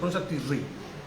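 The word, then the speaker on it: Tishrei: La pronuncia Tisri, ¿no?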